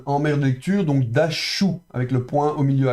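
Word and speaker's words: דָּשׁ: Ici, vous avez la lettre shin, vous vous souvenez, quand le point est au-dessus à droite, c'est sh, prononcé comme dans Chirac. Donc dash.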